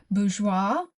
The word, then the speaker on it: Bourjois: Today I have some more makeup by BGEOA. And I looked up what that meant and first it gave me the meaning of B O R G E O I S pronounced bgeoa.